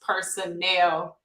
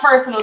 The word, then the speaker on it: Personnel: time with Kim K it is pronounced Personnel that's one of those play on words Personnel people Personnel employees Personnel you get it so it's not personal time I know some